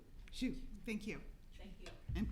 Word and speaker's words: Xu: Looks like the last name is XU. Shu.